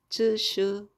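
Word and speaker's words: 秩序: 그리고 이제 이것이 바로 질서라는 질이라는 말로 해가지고 질서 하는데 중국어 발음은 쯔슈 로 갑니다.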